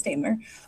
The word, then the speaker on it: Daimler: from year to year, I always forget how to pronounce Daimler. I think I said Daimler earlier, but it's Daimler. And then I guess in German, it's a different pronunciation, but we won't get into that.